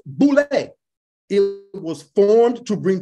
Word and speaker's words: Boule: The Boule is an acronym for Sigma Pi Phi, demons, and pronounced Boule.